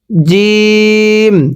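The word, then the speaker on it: جيم: জিম, এই শব্দটির নাম জিম। উচ্চারণের সময় আমরা শক্ত করে আওয়াজ দিয়ে পড়ব, পড়ুন জিম।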